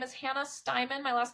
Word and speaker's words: Steiman: find me on LinkedIn my name is Hannah styman my last name is spelled St E I M an so it's an unusual spelling which means you'll find me you Google me you'll find me Hannah styman um you can email me my email is